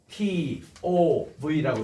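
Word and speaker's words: טוב: 그리고 토브는 TOV라고 읽습니다.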